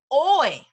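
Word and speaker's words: hoy: in the way oh oy oy means today okay so again whenever you see an H just ignore it in Spanish okay Maestra Susie puedes is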